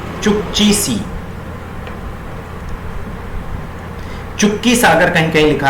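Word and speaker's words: Chukchi Sea: Arctic ocean का ये छोटा सा हिस्सा कहलाता है चुक्ची सी। चुक्की सागर कहीं कहीं लिखा रहता है कहीं, लेकिन स्पेलिंग यही है चुक्ची सी।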